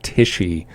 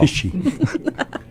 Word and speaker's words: Tichy: Garrett Tichy, pronounced Tichy. Y'all. Tichy.